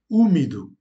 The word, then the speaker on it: úmido: Ou encore úmido. Donc on accentue là où est l'accent sur le U qui se lit OU.